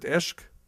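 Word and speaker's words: عشق: Oh, you pronounce it ishq? You pronounce it eshk? Okay, some pronounce it ishq. I guess depends which part. Ishq or eshk.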